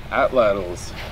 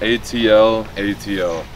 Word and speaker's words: atlatl: Atlatls. It's spelled A-T-L-A-T-L. You can pronounce it atlatl or atlatl, if you like to say the ridiculous way.